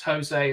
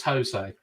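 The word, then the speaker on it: José: bath time always pronounce Jose as Jose the Portuguese pronounce is quite similar to the English one and not Spanish one well I'm glad you're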